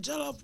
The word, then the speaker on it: jollof: I think I got the best jollof rice.